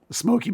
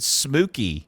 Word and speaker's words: Smoky: you pronounce those mountains Smokey Mountains oh it sound like you said smooky SMY is the Blue